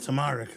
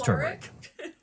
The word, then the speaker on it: turmeric: Oh, you really wanted that tamaric, huh? It's turmeric. Oh, is that how you say it?